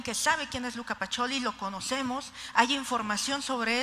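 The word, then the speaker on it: Pacioli: nos tuvieron que decir que se pronunciaba pacholi Pero sabemos que es Luca pacholi vemos una imagen y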